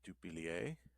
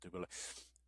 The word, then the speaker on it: Dubilier: Um, I guess it's supposed to rhyme with chandelier.